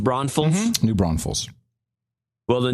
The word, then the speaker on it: New Braunfels: New Braunfels. Oh, is it pronounced Braunfels?